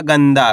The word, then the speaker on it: गंदा: क्योंकि इसका उच्चारण नाक से निकलेगा और आधा न के रूप में भी निकलेगा। आधा न के रूप में भी निकलेगा। तो आपको करण के अनुस्वार की मात्रा बोल के पढ़ना है। कैसे? ग में अनुस्वार की मात्रा गन। द मा की मात्रा द। तो मिलके बन जाएगा गंदा। क्या पढ़ेंगे? गंदा। आपको करण के आधा न का उच्चारण तेजी के साथ निकालना है।